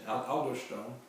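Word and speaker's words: aldosterone: r o n e and that's the correct pronouncing aler Stone uh a l d o s t e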